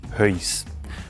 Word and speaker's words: Höis: Typisch für Engelberg ist Heus.